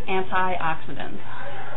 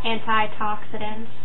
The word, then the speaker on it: antioxidants: The word is antioxidants. Mom says antitoxidants. Antitoxidants. She throws a little extra letter in there.